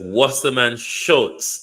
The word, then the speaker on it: Wasserman Schultz: I think somebody sent me the pronunciation. Let me listen. Okay, so it's Wasserman Schultz.